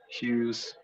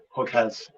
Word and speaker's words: Hughes: nobody say her name they couldn't say hughes so they called me hook heads or just hugs so the chapter about